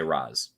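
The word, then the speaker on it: Ra's: that like that there's you're not wrong if you say raz but like they they will usually say i think in batman begins liam neeson makes a joke about that um but that like i guess the more traditional way quote unquote is race even um even falcone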